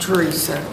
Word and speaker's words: Teresa: Excuse me, sir, it's pronounced Teresa. It's Teresa, that's Teresa.